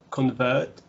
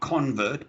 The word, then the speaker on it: convert: Convert. Okay. Make this a schwa. Not convert, but convert. Convert.